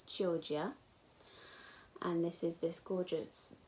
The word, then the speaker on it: Chioggia: It's Chioggia.